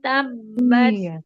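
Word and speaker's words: تبت: Jadi tetap bunyinya huruf ta. Tabat. Iya. ada bunyi es itu cukup kita yang dengar, nggak boleh sampai orang yang dengar. Kalau sampai orang dengar berarti bacanya salah huruf tanya. Jadi Tabat, dia pelan banget. Tabat yada, karena ta punya sifat hamas ya. Hamas itu keluar nafas.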